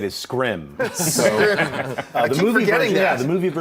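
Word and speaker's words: Skrull: It's the proper way to say it is Scrim.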